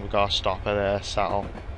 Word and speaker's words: Settle: Seattle, what was I on? Settle.